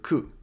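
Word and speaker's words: く: not recommend doing that it's pronounced like both syllables of the word cuckoo or just the first syllable depending on your variety of English how to remember KU to remember this think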